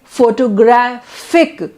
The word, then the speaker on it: photographic: comes on photograph graph so the stress changes stress is not on 4 now it's photograph then photography and then photographic so in every word